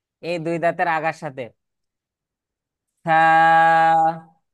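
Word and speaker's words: ث: থা উচ্চারণের সময় জিহ্বার আগা, এই যে জিহ্বার আগা সামনের উপরে দুই দাঁতের আগার সাথে লাগবে, এই যে এই দুই দাঁতের আগার সাথে। থা।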